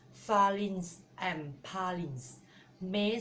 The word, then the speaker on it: Palin: In Manglish, they pronounce Falin, but in English, pronounce Palin.